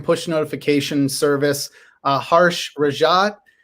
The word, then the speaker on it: Rajat: notification Service uh harsh rajad correct me if I mispronounce that harsh is that that's how you pronounce your last name right you got it right oh good good you'd